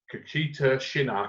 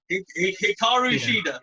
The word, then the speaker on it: Hikaru Shida: The next match is Nyla Rose versus Kakita Shina. Can I pronounce that right? So Hikaru Shida. That's it, right?